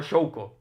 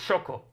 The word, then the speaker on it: Shoko: Hombre, es que en japonés es Shoko, no Shouko. Es Shoko. Porque la U no se pronuncia.